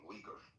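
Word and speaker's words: Uyghur: Can someone explain to me what a wiger is? Sorry, I pronounce it wrong. Weager.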